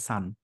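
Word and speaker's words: son: এন কে উচ্চারণ করে সন বলে এটা বলে সান but actually both R pronounce S সান they have the same pronunciation আরেকটা খুবই কমন একটা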